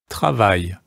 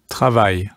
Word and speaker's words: travail: Because it ends in A, I, L, that's pronounced I. So let's hear that pronunciation again. Travail.